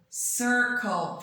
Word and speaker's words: circle: here is Redis Oh circle okay so it's a bit tricky because the same letter is read differently at here's a circle and here's cut okay but if we spell